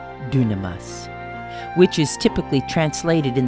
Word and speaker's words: dunamis: for myself and others I don't use Jimmy Walker's pronunciation but I sometimes use the Greek word dunamas which is typically translated